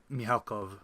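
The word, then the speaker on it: Mikhalkov: How do you say your name in Russian? Mihalkov. Mielkov. Okay.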